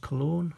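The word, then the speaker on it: colón: And El Salvador did used to use the colon, C-O-L-O-N, but it's pronounced cologne, as it, just like the what you spray on yourself.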